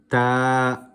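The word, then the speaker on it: تاء: are pronouncing these letters, some people tend to pronounce them as alif, be, te, the. That is incorrect. That is from the Urdu alphabet, not the Arabic.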